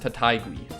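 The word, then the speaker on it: Taitague: from the united states last name is pronounced tatigui so apparently this guy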